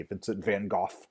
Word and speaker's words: Vincent van Gogh: So those are the two paintings that I'm going to show you from Vincent van Gogh, or to say his name more properly, Vincent van Gogh.